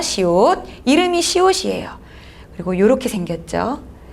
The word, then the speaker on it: 시옷: 시읒 아니고 시옷이라고 읽으셔야 돼요. 시옷.